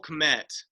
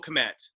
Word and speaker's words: Kmet: I don't know if the K is silent, but Cole's fine with me. It sounds great. It's a hard K.